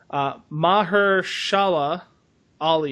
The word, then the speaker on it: Mahershala Ali: FIFA 17, starring, I don't know how to pronounce this guy's name. It's Mahershala Ali.